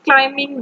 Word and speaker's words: climbing: is climbing the mountain in this uh word climbing b is silent because we not pronounce this word as climbing we pronounce it climbing climbing he's climbing the mountain so the b sound in this word is cyan letter we will